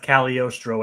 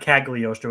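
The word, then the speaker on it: Cagliostro: cal it is pronounced caliorstro as we brought up it's not kaggalostro it is it is yeah that's the thing the g is like supposed to be silent but it's like you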